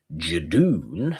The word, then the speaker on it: Judoon: And the hospital transported to the moon because the Judoon, which funnily enough rhymes with moon, and there's a hilarious line later on that's like Judoon platoon on the moon or something like that.